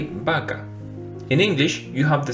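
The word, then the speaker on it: vaca: like V right but in Spanish it's the same as the letter B so therefore we don't say vaka we say Baka in English you have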